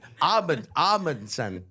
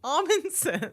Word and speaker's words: Amundson: Amundsen, just almond with no L.